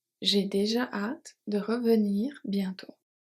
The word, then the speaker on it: bientôt: J'ai déjà hâte de revenir bientôt. 3 silent letters. J'ai déjà hâte. So here the H and the final E. Hâte de revenir is fine. Bientôt, silent T. T. Bientôt.